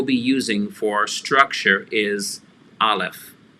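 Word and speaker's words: אָלֶף: using for structure is aleph aleph and that's going to be the letter that is silent like the 16th letter of the hebrew alphabet ein they're both silent and can take multiple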